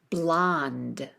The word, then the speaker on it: blonde: Sometimes it has that silent E at the end, sometimes it doesn't. You can ignore it, don't pronounce it.